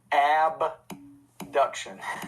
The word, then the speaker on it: abduction: the same he said so i'll say abduction and a deduction and i'm like wait those sound the same too a b duction a deduction also kind